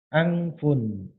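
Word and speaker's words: أَنْفٌ: Kemudian pada kalimat isim ini kita membacanya angfun. Jadi sekalipun nanti ada tulisan hanya alif nun fa, maka sudah bisa dibaca angfun.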